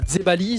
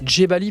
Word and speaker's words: Djebali: Enzo Dzebali, ça se prononce comme ça, Enzo? Ouais, Dzebali, ouais, tout à fait. Dzebali plutôt? Ouais, plutôt. Ouais, c'est un Dzebali, J, toi. Ouais, c'est un J.